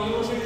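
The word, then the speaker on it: university: क्या कहलाएगा एक वर्ड आपको दे रहा हूं यूनिवर्सिटी तो बड़ा फेमस है वो हर बार पूछ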